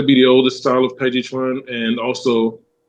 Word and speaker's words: Tai Chi Chuan: I speak Chinese, so I tend to speak the pronunciations specifically. So it's originally called Tai Chi Chuan. Tai Chi Chuan.